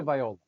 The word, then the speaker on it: Tagovailoa: Uh, Tagovailoa.